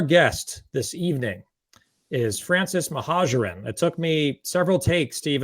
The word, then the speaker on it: Mohajerin: So our guest this evening is Francis Mohajerin. It took me several takes to even pronounce his last name correctly.